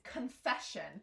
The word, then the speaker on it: confession: we pronounce this it's confession so the stress is here that means this sound is reduced so it's not confession